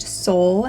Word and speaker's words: Saul: basil versus basil Um this can also be pronounced soul and I think if it does make its comeback it's going to be using the pronunciation Soul that's the Spanish and Portuguese pronunciation and it means Sun I would love to